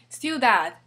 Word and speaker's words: ciudad: The third one, ciudad. Ends with a D again, it's a consonant. Ciudad, ciudad. So this is rule number 2.